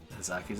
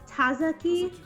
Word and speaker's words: Tazaki: Tazaki's apartment.